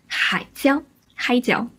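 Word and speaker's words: 海椒: in the 20s however chilies are called Hai Zhao or hi gel is the dialect pronunciation and this literally translates as sea pepper so growing up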